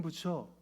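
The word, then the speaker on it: Bucer: 뜯어서 다 불태웠지아요 마틴 부처 유명한 종교 개혁자 부처라고 하니까 불교의 부처 생각하시면 안 되고 발음이 그래요 그 사람 농민 전쟁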